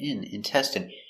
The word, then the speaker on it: intestine: So, remember the in is pronounced in intestine.